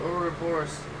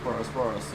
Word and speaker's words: Ouroboros: I have a Ouroboros. You said it right. Ouroboros, yep.